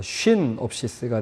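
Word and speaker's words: σύνοψις: 이 윕실론이 이제 위 발음이 나서 쉰옵시스가 되는데, 자, 뭘 그러면 공통관점이라는 게 공통된 시선으로 같이 본다는 게 무엇을 같이 보느냐?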